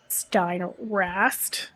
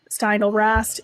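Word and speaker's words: Steindl-Rast: So Happiness by Matthew Ricard and Gratefulness by Brother David Steinrast. I just did not pronounce his name properly. those are really good. Matthew Ricard is a Buddhist monk. David Steindl Rast is a Benedictine monk.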